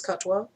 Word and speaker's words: Katwa: be talking about uh katwa uh which in bengali is also is also spelled it's spelled like k-a-t-o-y-a but it's pronounced as katwa um so it is